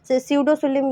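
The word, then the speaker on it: pseudocoelom: सडोसिलोम ये भी साइलेंट है।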